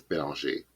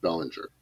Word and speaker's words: Belanger: So in Pale, there's a character named Alexander Bellinger, who you would normally read as Bélanger. But according to the audiobook pronunciation guide, was confirmed with Wildbow to be pronounced Bellinger. Now, it is entirely possible